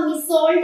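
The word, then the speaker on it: Meursault: इसको आप मिस सॉल्ट ही pronounce करेंगे, क्योंकि ये जो आर है ये साइलेंट है।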